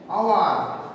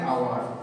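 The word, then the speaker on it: hour: মতো উচ্চারিত হয়ে যাচ্ছে, কনসোনেন্ট হওয়া সত্ত্বেও ভাওয়েলের মতো উচ্চারিত হয়ে যাচ্ছে, তাই আমরা বসাবো এন আওয়ার, N honest man, এইচ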